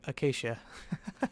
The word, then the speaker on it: acacia: It's acacia, if you're wanting to know how to pronounce it.